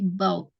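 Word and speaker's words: bought: menjadi boot ya Nah cara bacanya GH nya itu silence ya jadi nggak perlu dibaca jadi bau terus kemudian naik kelas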